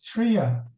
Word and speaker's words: Trier: I'm fine except that you mispronounce my name it's Tria to be correct Tri okay yeah you know it's okay with Tria but you know then you get try harder Dr Tri so I prefer Tria that's how we pronounce it in my country which is Denmark I'm located in Copenhagen Denmark